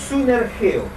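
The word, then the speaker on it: συνεργέω: Esta palabra, les ayudan, se tradujo de un término griego que es sunergeo. S-U-N-E-R, G de gato, como dicen mucho, E-O, con acento en la E.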